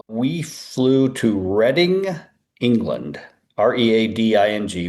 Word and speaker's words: Reading: R E A D I N G, Reading. Spelled like reading.